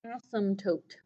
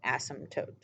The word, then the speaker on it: asymptote: It's called an asymptote. I'll spell it for you. ASYMP tote, T-O-T-E.